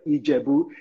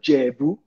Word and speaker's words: Ijebu: So if you're not Ijebu, you will call them Ijebu. The Ijebu people don't call themselves Ijebu. They call themselves Jebu. The I is silent.